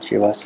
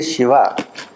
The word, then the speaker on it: Shiva: when you say Shiva the key word for the pronunciation of the word Shiva is she e and that e is supplied by Shakti you pull the e out then it will become shower so that energy that